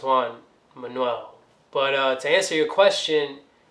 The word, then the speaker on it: Juan Manuel: much it but why launch the YouTube now Juan Manuel Manuel is pronounced Juan Manuel but to answer your question you know after